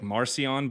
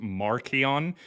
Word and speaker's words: Marcion: There are some names that we generally will say like Marcion, but his name was pronounced Markion. So it depends on which scholar you listen to.